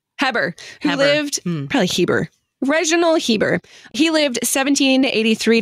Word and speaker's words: Heber: Heber, I'm going to say, because he was Anglican, not French. Could be. I'm just going to go just with own Hebert. Heber. Who Heber. Lived, probably Heber.